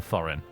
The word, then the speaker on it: Thorin: under the leadership of th thin or th really would be the correct pronunciation and Thorin at the crest of